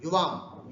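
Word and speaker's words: युवाम्: युवाम, यू छोटा है, ह्रस्व है यहाँ पर, और यहाँ यू दीर्घ है, ये विशेष ध्यान रखना।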